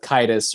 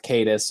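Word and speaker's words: Caedus: he turns dark yeah Darth kidus or Darth cadis like there's there's debate about how his name's pronounced but I always knew him as Darth cadus yeah that's how I pronounce It In My Head cadis Jason it's Jason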